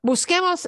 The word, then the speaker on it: busquemos: And the only way to do that in Spanish is to say Q-U with an E.